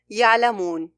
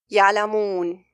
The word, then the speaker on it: يعلمون: For example, let me pronounce this word for you, يعلمون. This way is correct. And now I'll pronounce it with a nasalization. يعلمون, يعلمون, يعلمون. To fix this, you need to direct the sound to the mouth.